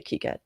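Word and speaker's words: KiCad: i so uh just i learned that it was uh made by people in france so they recommend people say kiket i used to say kai ked and this has been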